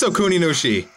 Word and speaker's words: Okuninushi: get to see who it is it is okuninushi yeah I actually pronounced it right it was you wasn't it